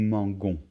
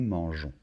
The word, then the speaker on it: mangeons: pour nous un e si on ne rajoute pas ce e ça ferait nous mangon donc il faut rajouter un e et de cette manière on le prononce nous mangeons vous mangez il mange